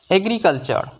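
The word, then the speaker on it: agriculture: এল কাল উচ্চারণ আসবে সি থেকে ক উচ্চারণ আসবে ইউ টা এর উচ্চারণ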